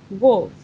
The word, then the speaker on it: wolf: Wolf.